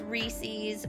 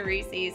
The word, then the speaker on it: Reese's: everyone says Reese's but you really got to picture it like it's someone's name Reese and something that belongs to them and I can guarantee you that is the appropriate way to pronounce it I have heard people